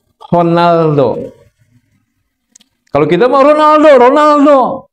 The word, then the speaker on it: Ronaldo: apa apa Portugal Portugal dalam bahasa Portugal Ronaldo itu R dibaca H honaldo kalau kita ma Ronaldo Ronaldo Ronaldo bukan Ronaldo orang son banya bukan Ronaldo honaldoal gu Ya udahlah ini